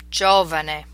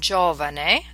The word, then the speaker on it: giovane: You'll notice on giovane there's some underlining indicating where to place the stress. Usually in Italian, the stress is on the second to the last syllable, but in this case it's moved forward to distinguish it from a different word.